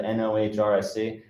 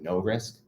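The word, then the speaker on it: NOHRSC: how to pronounce that, NOHRIC. I thought that's how we always pronounced it. I was at the NWS over spring break, and they apparently pronounce it no risk.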